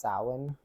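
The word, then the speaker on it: Samhain: there no it's actually you wouldn't know how to pronounce it uh just looking at the spelling It's s a m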